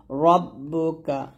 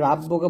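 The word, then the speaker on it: رَبُّكَ: রব্বুকা, এখানে রাব্বুকা বলবেন না, রটা মোটা করে রব্বুকা।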